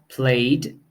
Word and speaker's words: played: have a T sound then we have played and listened who have the D sound and then we have